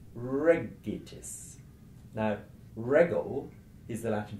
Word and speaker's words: regitis: The final syllable you would never stress. The one before, it, is a short syllable, and it contains a short vowel, so you mustn't stress that. You have to come one further back, and you get to the first syllable, re, so regitis.